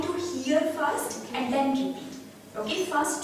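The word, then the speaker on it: France: फ्राम्स फ्र ओके ो the spelling is same but the pronunciation इ different we don't say फ्रांस फ्रांस okay it's a nasal sound over here फ्रास फस शीन शी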